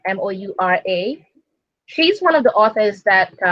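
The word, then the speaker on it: sidhe: the the she moves and working with the sheet which is the face if you don't know as the S idhe which is pronounced she as in sha e so a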